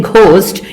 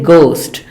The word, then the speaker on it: ghost: you should not say ghost you should say ghost the H is silent similarly our honest architect